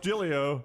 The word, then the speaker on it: Joe Giglio: Looks like Giglio, pronounced Giglio.